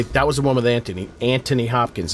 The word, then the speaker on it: Anthony: And I That was the one with Anthony. Anthony Anthony Hopkins. If you're from England, you you you don't say th.